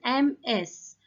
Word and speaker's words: Ms.: So the next title is MS. It is pronounced like Ms. Z sound should be there at the end.